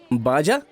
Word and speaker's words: Baja: बाजा।